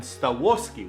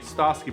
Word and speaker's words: Stawski: down my name, Stawoski, with an O after the W. Kind of like the Korean pronunciation. Yeah, that's how you pronounce it. But then I said, no, it's actually Stosky, but I don't think